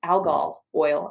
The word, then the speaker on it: algal oil: It's algal oil, actually, is how it's pronounced.